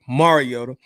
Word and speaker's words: Mariota: Marcus Mariota um Mariota somebody told me I'll be pronouncing it wrong so let me you try to be proper Mariota I seen um a